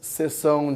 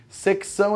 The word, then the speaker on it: sessão: Então, sessão de compras, sessão de frutas, de verduras. Como é que você pronuncia essa palavra? Não. Secção é tipo um sexo gigantesco. Assim. Secção. É sessão.